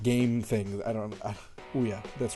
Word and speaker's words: Ouya: I have a really bad problem with like mispronouncing like game things. Ouya, that's right.